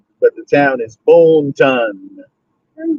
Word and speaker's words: Boonton: I just don't know how to say Boonton. That should sound retarded. And it's always been Booton. But I mean, again, just because I say Booton don't mean it's the proper pronunciation.